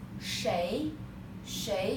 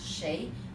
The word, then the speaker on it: 谁: Next one is 谁. In colloquial Chinese we pronounce 谁, but when you are reading a book, they will say this one pronounced 谁. But in our book, you just memorize this 谁.